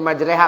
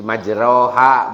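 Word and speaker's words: مَجْرَاهَا: Nah, hasilnya majreha kan ro mah dibacana ro gitu ya, bukan re. Nah, jadi majroha bukan majreha, tapi kenapa majreha?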